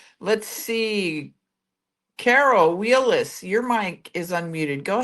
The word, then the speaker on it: Wheeless: I know it's pronounced Wheelis, and there's a reason why I'm asking. It's Wheeless.